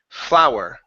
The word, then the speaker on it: flower: flower instead of FL flower FL flower there you go so the pronunciation of of this word and this this one are exactly the same okay flower but